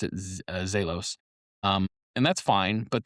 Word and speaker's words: Zelos: Now, the brand Zelos, Z E L O S, is actually pronounced Zaylos. Most people will pronounce it and I pronounce it Zaylos.